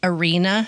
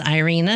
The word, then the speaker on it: Irena: So, today we're going to talk about Arena Sendler.